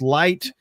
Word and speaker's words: LYHT: Not just the living your heart's truth, but also the fact that it's LYHT, which is pronounced light.